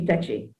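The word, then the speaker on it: Tacky: And so I want to say the 1760 Centenary War, led by Chief Techi, which is how it's pronounced, and the 1831-32 Emancipation War, led by Sam Sharp.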